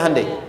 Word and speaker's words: Hyundai: Hyundai kan dibacanya Handeai ya kan.